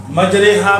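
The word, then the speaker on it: مجریہا: हिज्जे इस तरह करते हैं, स्पेलिंग हम जिसे कहते हैं, मीम जीम ज़बर मज, रा खड़ी ज़ेर ली, हा अलिफ ज़बर हा, मजरी हा।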